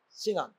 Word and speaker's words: chignon: Signon, Sinon, SCHIGNON, Sinon. The G is silent, Sinon.